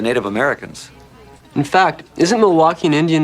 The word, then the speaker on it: Milwaukee: Milwaukee.